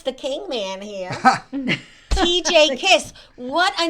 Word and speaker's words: Kiss: Yeah, but it's such a name, TJ Kiss. Is It that is. your real name? That is my real name. It is a Hungarian last name, pronounced Really? Kish in Hungarian.